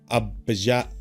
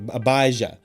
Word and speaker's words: Abijah: a priest named Zechariah of the division of Abijah Abijah Abbas Abaza okay some of these tell